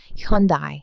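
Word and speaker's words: Hyundai: 왜냐면 현대가 혼다랑 영어로 말하면 발음이 비슷하거든요. 혼다는 헌, 현대는 현다이 이렇게 부르기 때문이에요. 그래서 현대는 혼다의 짝퉁이 아닌데도 억울하게 이미지를 깎아 주기도 했했어요.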